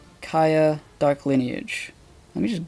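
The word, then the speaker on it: Kya: Pronounced Kaya, it is a PS2 3D platformer with an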